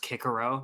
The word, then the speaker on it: Cicero: a PhD linguist to tell me that it's pronounced Kikero.